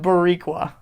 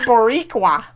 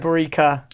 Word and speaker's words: Boricua: And so Or is it Bad Borica? no.